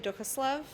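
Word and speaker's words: Duchoslav: good maker now so my name is dukaslov last name is spelled d-u-c-h-o-s-l-a-v and i'm a technical writing student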